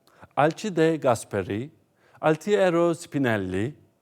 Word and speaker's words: Alcide de Gasperi: ...Alcide de Gasperi (okunuşu: Alçide de Gasperi), Altiero Spinelli (Altiero Sipinelli), ...